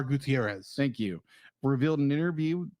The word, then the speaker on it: Gutierrez: Gutierrez Gutierrez thank you I'm assuming I'm pronouncing Gutierrez correctly mly I'm basing it off of a character in froid that was played by Ricardo monoban ah who they called him Gutierrez instead of KH oh okay because he's